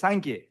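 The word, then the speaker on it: སངས་རྒྱས: In Tibetan, Buddha is pronounced as Sangye, which is also my name, but I'm not real Sangye yet, okay?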